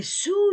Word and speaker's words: sous: Je ne prononce pas le S. La règle est sous le livre.